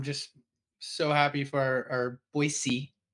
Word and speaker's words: Boise: And again, I'm just so happy for our Boise, not Z, Boise State fans out there.